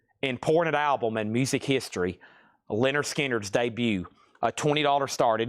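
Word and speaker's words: Lynyrd Skynyrd: Pronounced Leonard Skard on the original the original Sounds of the South label.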